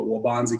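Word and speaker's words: Waubonsee: students at waubonsie community college it's hard to pronounce that for some folks but waubonsie community college i have been in the field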